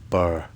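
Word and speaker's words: Birr: as well and it's in a place called Burr but it's spelled b-i-r-r it's about 19 miles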